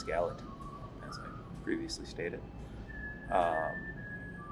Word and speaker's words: Gallatin: couple housekeepers first uh I pronounce uh Gallatin National Forest is Galveston but it's Gallatin as I previously stated